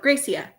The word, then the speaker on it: Gracia: You said it was right, but which one was right? The way I said it or the way Becky said it? Gracia or Gracia? 1, Gracia, or 2, Gracia? I want to say it right. One. Okay. Oh, no, it's 2. So Gracia. Right? Okay, so I was wrong.